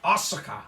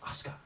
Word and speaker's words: Asuka: Her name is now Asuka. Asuka. No, it's Used to be. Asuka. Asuka. Oscar. As Yeah. William He is Regal would silent. have you know, it's Asuka.